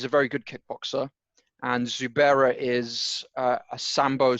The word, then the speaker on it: Zubaira: think that zoo by is that how you pronounce it yeah zubaira just call him zubair zubaira you'd think that